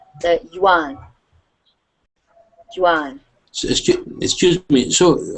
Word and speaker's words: Yuan: Yan um the uh the Chinese say something different than the English but that is how we pronounce it in English the Yuan Jan excuse me so